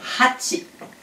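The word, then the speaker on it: はち: Hachi. Donc ici, à faire attention, il y a un H, hachi. Il faut bien le prononcer.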